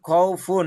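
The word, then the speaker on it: خوف: খাউফুন থাকলে শেষে যে ফা, ফার সাথে যে দুই পেশ আছে এটা যজম হয়ে যাবে। যজম হয়ে গেলে ফাটা অল্প উচ্চারণ হবে, খ এবং ওয়াওটা বেশি উচ্চারণ হবে। ফাটা 3 ভাগের 1 ভাগ উচ্চারণ হবে।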